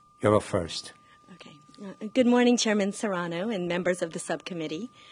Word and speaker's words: Serrano: pronouncing names correct here i hate it when people call me Soriano good morning chairman Serrano hold on a sec